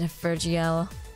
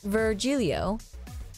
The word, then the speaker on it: Virgilio: __ ] this car hey you look winded Virgil it's pronounced no I'm pretty sure it's virgilio you said as much the last time you